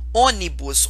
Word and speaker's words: Ônibus: Ônibus. Ônibus é uma proparoxítona. Por quê? A antepenúltima, que é a sílaba mais forte, inclusive ela é até acentuada, tá vendo?